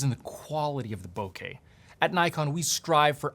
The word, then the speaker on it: bokeh: I say bokeh because it's the same pronunciation of the word in Spanish for mouth, so it just works.